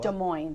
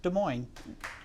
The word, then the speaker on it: Des Moines: Des Moines. There's the S is silent.